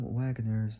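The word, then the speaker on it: Wangers: autobiography, Glory Day, Jim Wagner's I don't know how to prop probably is spelled W A N G E R S. It's like saying Rangers, but taking out the R putting W.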